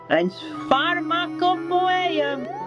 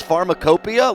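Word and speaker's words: pharmacopoeia: The word in the hole today is pharmarmacop. I think you pronounced that wrong. I think it's pharmacopia.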